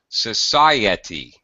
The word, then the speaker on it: society: there you hear why do you hear a y sound Society Society yeah there it is that's it right there